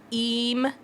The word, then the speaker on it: emu: But we did learn that emu is the correct pronunciation.